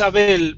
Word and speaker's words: Abel: of your name oh it's in in Spanish it's Abel but my friends call me AEL okay so which one should I call you which which pronunciation should I use I I think maybe able is right for English class AEL okay all right